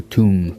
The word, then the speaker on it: tomb: It's a thing in English to not pronounce the B after the M. That's why you say bomb. bomb You don't say bomb. or tomb You don't say tomb.